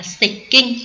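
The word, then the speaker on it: 接近: Chữ tiếp và chữ cận đọc theo âm ông là xịch kinh, đúng không?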